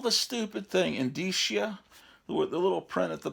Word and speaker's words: indicia: I used to call it an indica, like a moron. There's probably some early episodes that I did on YouTube where I pronounced it wrong.